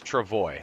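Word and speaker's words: travois: Erie there but I'm going to say Travoy if Google tells me Travoy it's Travoy Google's doing amazing with translating right now with uh you know even the app you can look through your phone and it turns text into whatever you speak so it's Travoy so for the record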